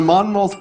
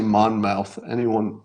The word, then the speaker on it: Monmouth: I don't want to say Monmouth even one more time because I can't pronounce it. Monmouth? The Monmouth poll. Just say it like you have a lot of cotton in your mouth.